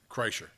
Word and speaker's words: Kreischer: Kreischer.